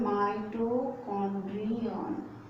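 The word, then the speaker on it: mitochondrion: इधर है माइटोकॉन्ड्रिया और इधर है माइटोकॉन्ड्रियन, ये ए एंड इधर ऑन, ठीक है।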